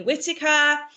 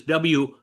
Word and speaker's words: Whittaker: I like the way she says WHITTAKER. But that's the difference between England and America. How would you say it? Well, how would you say it? It's WH, not H.